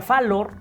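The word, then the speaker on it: fallor: Falible significa que puede, bueno, viene de latín fireor, se pronuncia falor y que es fallar, equivocarse.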